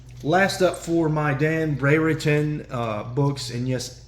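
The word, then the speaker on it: Brereton: up for my Dan Bray written uh books and yes his last name is Bray written b-r-e-r-e-t-o-n so I'm saying it right even though it sounds weird Legion 26.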